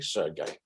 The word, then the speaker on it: Sergei: Sergei, is that, am I pronouncing it correctly? Sergei.